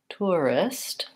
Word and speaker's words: tourists: book and took okay so in tourists tourists the way I say that word is I use just a vowel ooh to tour and then I have to move into my avowal and then or an R tour you can write at